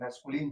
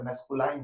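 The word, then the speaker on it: masculine: तो पहला देखे मैस्कुलिन जेंडर। क्या देखे? मैस्कुलिन gender. इसका प्रोनन्सिएशन भी लिख दिए। इसलिए लिख दिए कि बच्चा से मैस्कुलाइन जेंडर बोल देता है। जो कि गलत है।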